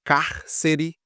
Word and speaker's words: cárcere: E cárcere também tem três sílabas, sendo a última, penúltima e a antepenúltima, que é essa aqui, o car, é a mais forte.